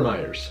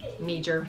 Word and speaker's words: Meijer: you say Meijer or Meijer's? I say Meijer. Okay, well that's even worse. I'm just making fun of the fact that it's Meijer and the J is silent, so I like to make fun of it.